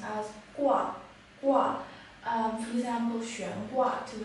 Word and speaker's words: 挂: pronounced as gua, gua.